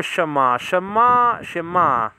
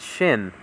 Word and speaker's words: Shin: It says over here, Shema is spelled out Sheen. Leonard Nimoy, Mr. Spock from Star Trek, used to call it Shin, not She.